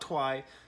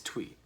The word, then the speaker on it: Twi: primarily in three twi i'm not exactly sure how to pronounce that tweet something like that it's not twi it's tweet now there's basically no lyrics